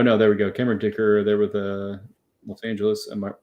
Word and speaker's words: Dicker: And his name rhymes with kicker. His name is Dicker.